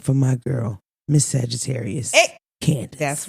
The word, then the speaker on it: Candiace: a c e d but it's still pronounced cand it's pronounced Candace so my whole life